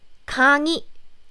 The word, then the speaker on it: 강의: I said if this 의 sound is in the middle of the syllable, not in the first syllable, then you pronounce it like E, as in 강의.